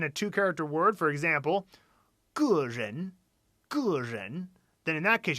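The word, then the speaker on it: 个人: 2-character word, for example, 个人, then in that case you're going to have G. The full diphthong 4th tone E. 个人, and that means individual.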